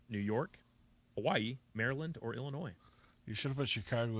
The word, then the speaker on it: Illinois: So I guess the S is silent. Right. Illinois.